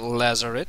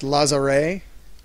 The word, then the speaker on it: Lazaret: It might be French, because we're in France. Who knows? Which would mean it would be pronounced Lazaret. Lazaret. I love it. It's very silent T.